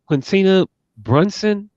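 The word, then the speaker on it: Quinta Brunson: her fellow Abbott Elementary star um isn't it quincina Brunson producer as you can tell me if I'm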